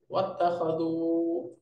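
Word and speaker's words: وَاتَّخَذُوا: তারা সবাই গ্রহণ করেছে শুরুর হামজাটা যেহেতু হামজাতুল ওয়াসলি এই জন্য দেখেন পূর্বে ওয়াও আসার কারণে হামজাটা লিখায় আছে উচ্চারণে নাই এবং তারা গ্রহণ করেছে ওয়াত্তাখাযু এই যে মিন দুনিল্লাহি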